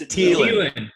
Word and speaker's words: Thielen: No, it's Thielen.